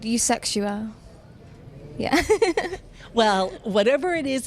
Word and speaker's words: Eusexua: Fucking look at the word. Sound it out. It's definitely not Yuzua or whatever Darren said.